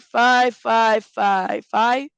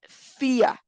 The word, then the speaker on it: Fia: All right, five, Fia, five. Sorry, I've been saying her name wrong. It's Fia.